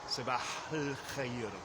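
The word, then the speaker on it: صباح الخير: So if I were just to say good morning, I say sabah al khair, sabah al khair. I don't really pronounce the A in the definite article of al-khair.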